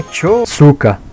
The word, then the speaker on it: 円塚: A pronúncia certa é chotsuka.